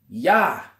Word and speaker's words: Jah: upon the heavens by his name yah which is spelled gah in this in the holy scriptures all right every Joyce before him all right but we know that that's yah which is short for you how uh so with